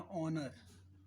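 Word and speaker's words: honour: ऐसे ही सम्मान, उसे बोलते हैं ऑनर, ऑनर, राइट। तो इसमें O से शुरू हो रहा है, H साइलेंट है।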